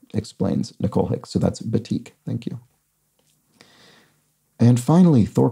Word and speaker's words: batik: thank you for that b-a-t-i-k um is pronounced batik i think i said batik or something like that i was completely wrong anyway it uses wax